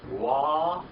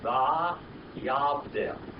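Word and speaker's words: וַיַּבְדֵּל: In other words, if you pronounce this biblical Hebrew, it would be Wa-Yadel. Wa-Yodel. Here in modern Hebrew is Va-Yavdel. Okay? There is a difference.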